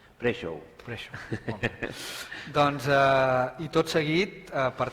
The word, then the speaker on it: Prešov: Es pronuncia Prešov. Prešov.